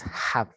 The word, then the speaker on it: have: When we pronounce an H, it is not like in Spanish that sound is not have. No, it's like como un suspiro. It's like have, you know, have, more soft.